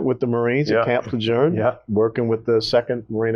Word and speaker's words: Lejeune: So he pronounced Camp Lejeune right. In Texas, we say Lejeune. Most Marines don't say it right. But you said it right, Camp Lejeune. You said it correctly.